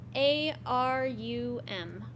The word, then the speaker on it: Arum: How do you spell that? Is that what Latin word for gold? A-R-U-M.